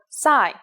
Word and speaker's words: psi: it in English called PSI there is no corresponding sound in English it makes a s sound like P and S said at the same time here's the uppercase C